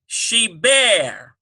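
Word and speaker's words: שבר: All right, now number 9, we have sheber. Sheber, S-H-E-E-B-B-A-Y-R. Sheber, B-B. Yes, in this case, dagesh forte in the bet. That dot doubles it, B-B, sheber.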